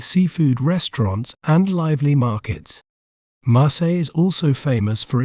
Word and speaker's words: Marseille: Both the L's are silent. Marseille.